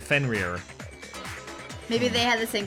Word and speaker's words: Fenrir: It is pronounced Fenrir.